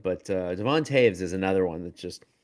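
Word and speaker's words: Devon Toews: And Devin Taves is incredibly or sorry, Devon Devon Taves, that's a doesn't pronounce the way you'd think it would, but uh Devont Taves is another one that's just so underrated.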